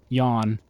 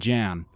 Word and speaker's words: Jan: funny fun fact uh throughout the series it is pronounced simult L uh Yan and Jan uh they don't really come down on a hard decision on what to call the guy but yeah there's there's